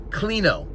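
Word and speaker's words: κλίνω: Klino. K-L-I-N-O, I believe it's spelled klino.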